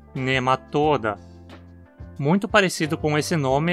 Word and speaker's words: Nematoda: Esse radical possui um O longo, então a pronúncia precisa ser paroxítona, nematoda.